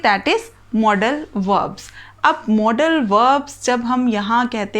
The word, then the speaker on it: modals: इसे बहुत से लोग मोडाल्स बोलते हैं, जो बिल्कुल गलत है. इट इज़ मॉडल.